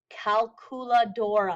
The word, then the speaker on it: calculadora: and again the CU sounds like a k caladora so don't make it sound like a q like we do in English with calculator it's calculadora if you have multiple calculators